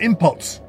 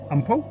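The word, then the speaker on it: impôts: place first and foremost don't call it impots it's umle ampo you don't pronounce it say of course you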